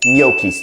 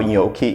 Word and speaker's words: gnocchi: So I'm gonna be teaching you how to make gnocchis today.